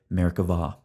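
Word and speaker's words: Merkavah: see by the way Hebrew grammar requires pronouncing the B as a V so we say Merkava we're going to approach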